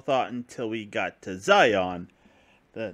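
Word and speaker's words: Xion: until we got to Zion the name that oddly shares the same name as that of the Matrix spelled differently but pronounced the same apparently and they even have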